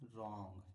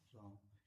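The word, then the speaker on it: wrong: Answer are से पहले W silent होता है। देखिए यहां क्या लिखा है? रोंग। क्या लिखा है? रोंग।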